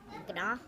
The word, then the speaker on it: gnaw: gnaw? No. Well, no, the G is silent. It's just Yeah. one of those funny things.